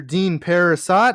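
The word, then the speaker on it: Dean Parisot: Speaking of Bill and Ted, the director Dean Parasat, I think is how it's pronounced.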